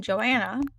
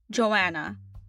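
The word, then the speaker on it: Johanna: Todd, and I'm playing Joanna. Joanna. I I think that's I think that's how you say it. Joanna, not Joanna. Joanna. The H is silent.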